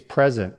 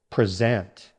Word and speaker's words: present: Present with the same stress can also mean someone is here, like she is present in the room. Now the verb. Stress on the second syllable. Present.